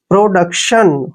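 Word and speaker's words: production: हो गया अब देखिए टी आई ओ एन को हमने क्या पढ़ना है शन ऐसे शन देखिए अब जोड़ के प्रोडक्शन हो गया ना प्रोडक्शन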